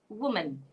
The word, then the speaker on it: woman: It should be woman.